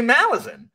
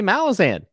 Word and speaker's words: Malazan: So if it's Malaz City, it's Malazan. I'm like, but I'm like, I commented on this video. I'm like, dude, there's no pronunciation guide for Malaz City. I say Malaz City, which is why I say Malazan.